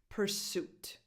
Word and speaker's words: pursuit: Number 7, pursuit. Pursuit. The stress is on the second syllable. Pursuit. So the first vowel has no real definition because the syllable is unstressed.